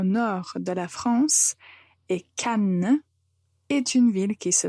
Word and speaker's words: Cannes: de la France et Cannes est une ville qui se trouve au sud de la France. Le festival du film se passe à Cannes. Donc il faut bien prononcer la lettre N et comme ça, vous ne vous trompez pas.